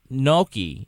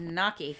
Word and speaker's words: gnocchi: instead of eating that gnocchi that was... None of you can pronounce that. It's hilarious to me. I call it gnocchi. You're all wrong.